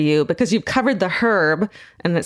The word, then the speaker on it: Herb: This city may sound familiar to you because you've covered the Herb, and it says Georgia, you pronounce the H, Baumeister murders. Yeah. Herb Baumeister.